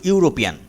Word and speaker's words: European: is dash european here the word european starts with a vowel but its pronunciation is like you you european so article ah will